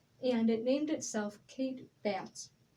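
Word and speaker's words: Batts: and it named itself kate bats i think i'm pronouncing the last name right i'm not exactly sure it's b-a-t-t-s kate bats kate baths with a k-a-t-e yes yep and kate had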